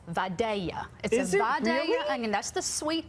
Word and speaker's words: Vidalia: that truly produce a Vidalia Onion so it's pronounced like a why mm-hmm there's my dad